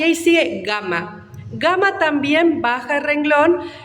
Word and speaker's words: gamma: Gamma siempre tiene sonido de G suave. ¿Qué significa esto? Que se va a pronunciar ga, ge, gi, go, gu, igual que en latín, independientemente de la letra que acompañe.